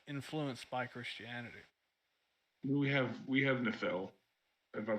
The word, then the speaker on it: Niflheim: We have Nephel, if I pronounce that fucking right. Which is the land of mist, basically. That's the closest thing. That's Niflheim, right? Yeah, Niflheim.